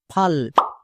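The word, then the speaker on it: full: এফ U double L ফাল। কিন্তু এটা একদমই ভুল বানান। এর উচ্চারণ ফাল হবে না। এর উচ্চারণ হবে ফুল।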